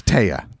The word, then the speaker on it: Tehya: It is, what is it? Tehya. Yeah, it's Tehya. Very fucking simple.